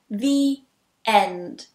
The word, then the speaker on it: the: And you'll notice that when I say it quite quickly, I join them together as well with a Y sound.